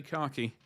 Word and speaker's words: khaki: I like to say khaki. As in a set of car keys.